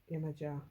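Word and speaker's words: Yemaja: See, I'd have said Yemoya, but Yemeja. Amaterasu.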